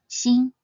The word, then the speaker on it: 心: The character xin means heart. Its pinyin is spelled xi, yin, xin, and it should be read in the 1st tone, xin, xin.